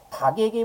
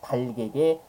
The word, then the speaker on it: 닭에게: 이렇게 써야 되죠 그죠 닭에게 모이를 주었다가 아니고요 닭에게 모이를 주었다 이렇게 써야 되는 겁니다 그죠 다른 겹받침들은